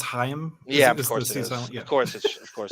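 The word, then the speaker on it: Chaim: Petrillo right yeah utrillo and shim sutin I'm sure I'm pronouncing that right I think it's hayam yeah of course of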